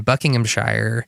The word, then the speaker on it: Buckinghamshire: play my family is actually from originated in Buckinghamshire area so you've never been there cuz I've not how to pronounce it sir please please tell me how